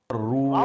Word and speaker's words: الروع: زبر و رو، رو، رو نہیں بیٹے، رو نہیں، رو، الروع رو، را زبر و رو. الروع عن ابراہیم الروع، عین پیش عو، الروع، الروع عن ابراہیم الروع.